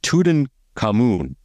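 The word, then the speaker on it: Tutankhamun: an experience and they have coming up uh tudan cun that's how you say it King Tod uh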